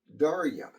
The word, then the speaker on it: Derya: This right here, not loaded, is, I think it's pronounced Derya.